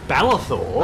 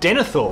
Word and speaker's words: Denethor: Balathor? I don't know. Sean Bean's dad. Oh, Denethor. Denethor. I was fucking close. Balathor. I went with a syllable.